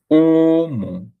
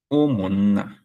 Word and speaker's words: Omonna: So this is Omonna, Omonna, okay? Up, down, up, down, high, low, high, low. Omonna, okay? Omo and na. Omonna.